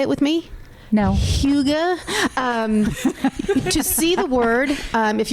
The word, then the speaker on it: Hygge: Hygge. To see the word, if you're not... Spell it for those who might want to play.